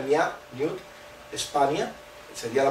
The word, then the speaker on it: niwt: Es una manera de decir que esta ciudad, este es el símbolo de ciudad, Newt, se pronuncia Niat, Newt, España, sería la pronunciación completa, significa que